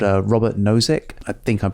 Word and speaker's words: Robert Nozick: want it yep there's a philosopher called uh robert nozick i think i'm pronouncing that correctly uh but in 1989 he